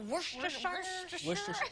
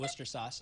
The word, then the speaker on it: Worcestershire: A little Worcestershire. Worcester. I call it Worcester sauce.